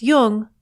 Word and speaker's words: Jung: podcasts or tune in just be sure to pronounce Jung with a hard J so with special thanks